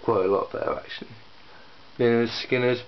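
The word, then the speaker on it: Lynyrd Skynyrd: a lot better actually l skinners pronounced L skinners and that's the name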